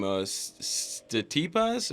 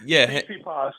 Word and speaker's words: Tsitsipas: Statipas, or how do you say? It's a Greek name, so I know that. So Tsitsipas. Yeah, that's it.